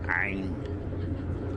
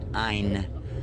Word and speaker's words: Ain: One of those letters is called Ain. Ain. Try to say it. Most likely, when a person first begins using English, they'll say Ein. Ein. It's not Ein, it's Ein.